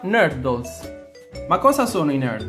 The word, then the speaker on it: nurdles: una s è una parola inglese e si pronuncia nardo ma cosa sono in al dos questi piccolissimi